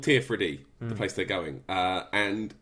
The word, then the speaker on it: Tirfradi: people that are settled, all call it Tier-Freddy, and it's spelled Teer and then Fradee, so Tier-Freddy, and that's what it says in the subtitle as well when they're talking Tier-Freddy. When you talk to one of the natives, they still say Tier-Freddy, but it's spelled Tirfradi. Ah, cool.